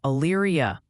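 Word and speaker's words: Elyria: Also, quick heads up, multiple people are saying is pronounced more like Ayria.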